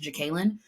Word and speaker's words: Jekalyn: this but Jekalyn Carr I kept saying Jacqueline I think her name is actually pronounced jacalyn Jekalyn Carr and Corrine